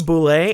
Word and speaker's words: Bullette: So you attack the boule, and it is next. And that is spelled Bullette.